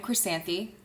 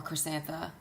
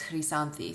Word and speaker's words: Chrysanthi: Okay, so I am Chrysanthi. That is how you pronounce it. It's not chrysanth, or chrysantha, or chrysanth. But in Greek, it's chrysanthi. So if you can say it with a Greek accent, and preferably if you're